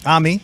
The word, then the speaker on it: Amy: It's pronounced Ami. Ami.